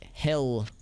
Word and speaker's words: Hel: to the hell rune maybe it's pronounced like hell it's it hell with one l so it's like hell rune not not double hockey sticks just one hockey stick wow two big chests